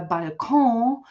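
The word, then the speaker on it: Balkon: The same is true for by um which we which is how we Germans pronounce uh uh by which we have borrowed from French but before us the French have borrowed it from Italian.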